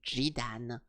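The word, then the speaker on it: Zidane: uh Final Fantasy 9 Zidan is renamed. Yeah, this one guy is supposed to be called Zidan but in French it's called Jidan.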